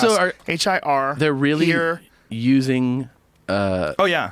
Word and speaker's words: hir: pronouns, use pronouns Z, HIR, Hers. HIRS, ZHEE, here, here's, here, here. How about here? Pronunciation. HIR is here. It's not even her.